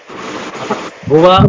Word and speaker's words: भुवः: देखो वहाँ विसर्ग है, मैंने बोला था विसर्ग की ध्वनि है का उच्चारण करेंगे। जहाँ विसर्ग होगा वहाँ है का उच्चारण होगा।